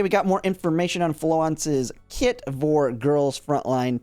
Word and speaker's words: Florence: Someone let me know that it's the French version of the name since her gun is a French gun, and that it is I've looked at some pronunciations for it online for Florence in the French version, and from what I can tell it's Floance.